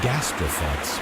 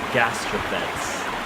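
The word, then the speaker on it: gastraphetes: a crossbow this is a siege weapon the gastrophets were used with ropes and hooks the suitcase is how you pronounce it my apologies the gastropaths all right and now let's take a look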